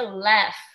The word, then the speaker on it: laugh: Escreve assim, ó, lauk. Escreve lauk, mas pronuncia laugh, tá, pessoal?